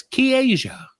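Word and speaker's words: Ki'ayja: name you pronounce that you pronounce Ki Apostrophe a y j a as K Asia K Asia Asia K Asia they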